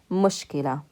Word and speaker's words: مشكلة: Remember, this is a lam because it's connected and it's followed by ta مربوطة, so we pronounce it with فتحة. مشكلة.